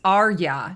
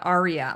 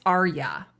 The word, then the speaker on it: Arya: like, because he says it's Arya, not Aria, like as in the opera. It's Arya, he said. But it sounds weird to say it that way. Arya.